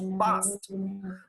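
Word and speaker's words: passed: P-A-S-S-E-D is pronounced past. Though it has a D, voiced sound, it is not pronounced D, it is pronounced T, past.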